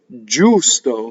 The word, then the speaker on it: giusto: Now, I'm distorting this for singing. Why? I'm distorting the U. I'm making the U longer than speech. Giusto. That's the way you sing it. When you speak, you can say giusto.